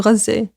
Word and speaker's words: Gaza: in Palestine, in both Gaza and the West Bank. I'm going to say Gaza because that's how you say it in Arabic, but that means Gaza for those who are unfamiliar.